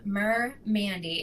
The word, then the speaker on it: MerMandy: I am Merr Mandy and that's spelled capital M lowercase e r capital m a n y.